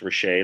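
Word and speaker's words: Rasiej: everyone my name is andrew roche pronounced rochet like shea stadium and i'm here in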